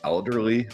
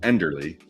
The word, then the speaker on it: Enderly: quick enderly coffee company I keep wanting to say elderly I don't know why I have to think about it before I say it to make sure I say it correctly enderly it's not elderly um we'll get more